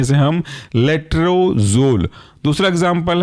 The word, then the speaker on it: लेट्रोजोल: और उसके अंदर का एग्जांपल है लेट्रोजोल, स्पेलिंग है LETRO, लेट्रोजोल ZOLE, साथ में पढ़ सकते हैं इसे हम लेट्रोजोल।